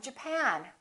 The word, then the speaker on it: Japan: or japan in this case it's the second syllable i'm from japan i'm from japan let's take a look at